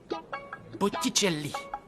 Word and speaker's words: Botticelli: aime particulièrement s'appelle botticelli botticelli ça s'écrit comme ça se prononce bien botticelli et il faut